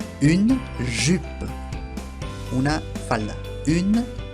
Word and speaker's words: jupe: La J en francés se dice J y se pronuncia como una doble L argentina. Une jupe. Una falda. Une jupe.